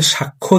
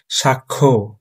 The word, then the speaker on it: সাক্ষ্য: এই তো এখানে একটা গুরুত্বপূর্ণ বিষয়, তিনি আসামির বিরুদ্ধে সাক্ষ্য দিলেন। সাক্ষী হবে না, হবে সাক্ষ্য।